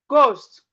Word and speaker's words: ghost: So we have honor, ghost. The H is silent.